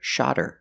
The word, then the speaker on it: shot her: But if I link the words, then the H is silent, then you hear shot her, shot her. The T changes to a fast D.